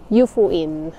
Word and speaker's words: Yufuin: yyung yufuin City So yun pala yung right pronunciation no yufuin yan so Ang ganda sobrang lamig kasi mataas